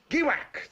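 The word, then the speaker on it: Giwak: is gak a small but oily State I'll spell that word for you gwak g i w a k and I've got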